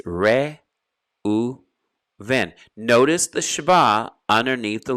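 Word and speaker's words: ראובן: Reuven in Hebrew. So in Hebrew, there is no dagesh in the letter beit. So it's not Reuben, it's Reuven.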